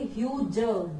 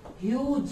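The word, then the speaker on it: huge: Perhaps a ह्यूज silence, इसको क्या बोलेंगे, ह्यूज, जी से यहाँ ज की साउंड आएगी, ग की नहीं आएगी, ज की आएगी। ह्यूज, ह्यूज मीन्स बहुत ज्यादा, बहुत बड़ा।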